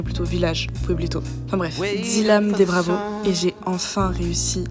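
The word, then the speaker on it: Dzilam de Bravo: Enfin bref, Dilam des Bravos. Et j'ai enfin réussi à prononcer son nom.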